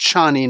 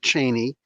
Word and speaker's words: Chani: It's pronounced Chani, not Cheney.